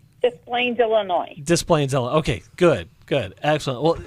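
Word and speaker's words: Des Plaines: um and let me see if I I pronounce this correctly desplenes Illinois so B are you okay with that you say it B isplane okay good good excellent well B what can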